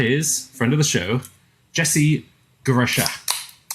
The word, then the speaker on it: Jesse Guarascia: And that is, friend of the show, Jesse Guarascia. Did I pronounce that correctly? You got it great.